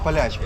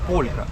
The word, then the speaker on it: полька: польска, мы называем неправильно говорить полячка. Это неправильно. Правильно говорить полька.